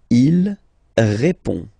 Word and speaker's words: répond: Il répond. So, final D is not pronounced. You only have this on nasal sound at the end.